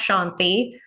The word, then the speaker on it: Shanthe: just saying Shanti but in India the t is actually a th sound and so it's either spelled s n TI or s h n t i both pronounced Shanty but my mom thought